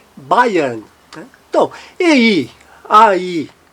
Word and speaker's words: Bayern: O AY, semivogal Y, AY também faz o som, fonema de I, Bayern.